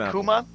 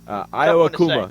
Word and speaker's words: Iwakuma: How about that, Ayakuma? Yeah, whatever. Ishikawa Ayakuma, whatever his name is, I apologize. Iwakuma, is that how you pronounce it? I think it said Iwakuma. Iwakuma, yeah, you're right.